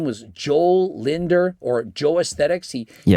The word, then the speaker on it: Joel Linder: No, his name is Jo as in Johan. Johannes Joe. It's me Joe. Joe. Hola amigos. What's Joe?